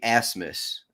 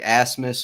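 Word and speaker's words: Rasmus: little more he's like as Miss holand it's like oh the r is silent I never never really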